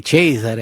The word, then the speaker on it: Cesare: So Caesar. It's the same thing. It's spelled the same way, but they say Cesare.